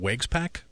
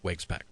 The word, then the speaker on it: Waguespack: It's in exchange for Jacob, is it Waguespack? Yes. Right-handed pitcher, Waguespack.